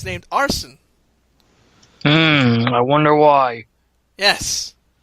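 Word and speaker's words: Arsène: his persona has been named and it's named arson hmm i wonder why yes that's spelled a-r-s-e-n-e now now you really can't get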